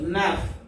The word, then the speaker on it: neuf: and French but the pronunciation is C's SIX pronunciation C's 7 SEPT SAT SEPT SAT 8 HUIT with HUIT with 9 NEUF NAF 9 NEUF NAF and 10 DIX this.